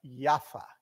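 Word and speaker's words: יפו: Tel Aviv, y en hebreo se pronuncia Jaffa, ¿ok?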